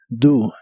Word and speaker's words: do: qué te gusta hacer la o de esta palabra se pronuncia como u do do y usaremos el